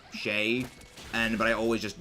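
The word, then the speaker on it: chez: I read it is cheese is because I took French in high school and c-h-e-z is pronounced like Shay and but I always just default the pronouncing it cheese sorry about that I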